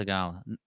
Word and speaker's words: Theegala: He said it's pronounced Sahith. Sahith. It's more of a he, not a he. Theegala. Sahith Theegala. Mm-hmm. Theegala.